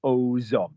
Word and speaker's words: aux hommes: You'd link it if you said I'm speaking to the men, you'd say je parle aux hommes. You'd pronounce the X at the end of it.